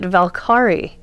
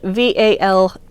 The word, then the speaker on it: Valkyrie: this is called valkyrie i knew somebody who pronounced it valkari i thought that was an interesting it's it's spelled v-a-l-k-y-r-i-e but i believe it's supposed to be pronounced